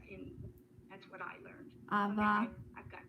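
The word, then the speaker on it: אב: How do you pronounce the word for father? Av, A-V.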